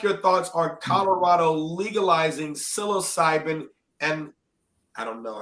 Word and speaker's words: psilocybin: Can I ask your thoughts on Colorado legalizing psilocybin and I don't know how to even pronounce that. I want to say Psilocybin.